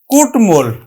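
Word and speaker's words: কুট্মল: সাথে ম ফলা আছে তারপর দেখো ট এর সাথে আমরা উচ্চারণ করব এইযেট এর সাথে ম আছে এজন্য কি ম ফালার উচ্চারণ করব তাহলে আমরা উচ্চারণ করছি কিন্তু কুটমল আমরা উচ্চারণ করছি কুটমল লাস্ট কি আছে যে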